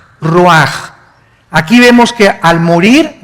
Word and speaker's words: ruach: El roj que se escribe r u a c h. Ruach en el hebreo y se pronuncia igual roj.